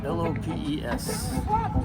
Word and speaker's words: Lopes: Lopes. How do you spell your last name? Lopes. Lopez. Oh, is that how it's pronounced? With an S.